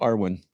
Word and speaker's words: Irwin: that what's ironic is I love my name when it's pronounced in Ireland really it's called Arwin and it's just a slight pronunciation difference and if I had